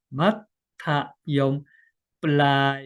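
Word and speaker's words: มัธยมปลาย: 이 글 은 " 마타 욤 플라이 " 라고 불립니다 . " 마타 욤 플라이 " 는 차분 한 어조로 읽을 수 있습니다 .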